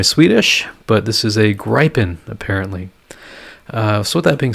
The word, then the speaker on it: Gripen: from sweden that told me that it's not pronounced gripen it's pronounced gripen and i've been following this other guy's youtube